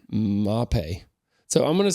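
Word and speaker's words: Mapei: I heard it Maypay my whole life, Maypay, but that's not right. That's not right. That is Western North Carolina right way to say it. Mapay.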